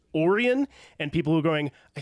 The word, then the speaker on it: Orion: And And I will also say for anybody that that's sitting there going, I think you mean Orion. No, his brother's name is pronounced Oran.